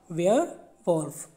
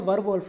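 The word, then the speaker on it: werewolf: वेयर वल्फ ठीक है क्या बोलना है इसको वेयर वल्फ ठीक है वर वल्फ नहीं है वेयर वल्फ एंड a numerous creature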